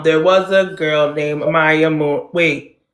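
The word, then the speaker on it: Amaia: was a girl named Amaya. Wait, there was a girl that something sunk. Amaya was her name. Oh, A M A I A. That's how I told her to say her name, but I forgot what words I used.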